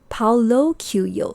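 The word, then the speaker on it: Paulo Coelho: first place so this was a quote by paulo kyuyo paolo que yo yes so i actually searched how to pronounce his name to get it right so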